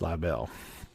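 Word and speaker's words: Liberl: I say that right I was you know the word is spelled Li IB e r l but I'm pretty sure it's live L um no uh no R in there so um that means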